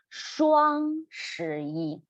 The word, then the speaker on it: 双: We need to roll our tongue up again. Roll your tongue up. And the first word here, 双, keep your mouth O shape, just a round shape.